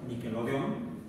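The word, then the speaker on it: Niquelodeón: Pero el dispositivo llamado Nickelodeon, en español tenía que ser con Q y acento en la O, tilde en la O, Nickelodeon.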